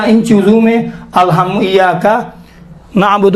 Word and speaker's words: نعبد: جاتا ہے۔ لہذا ان چیزوں میں الحم ایاک نعبد و ایاک نعبد، دیکھیں نعبد، کیا پڑھتے ہیں؟ نعبد ایاک نعبد و ایاک نستعین، نستعین یہ تلفظ کرتے ہیں، نعبدو نہیں ہے، اعبدو نعبدو